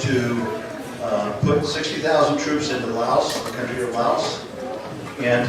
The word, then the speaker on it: Laos: That's pronounced Laos.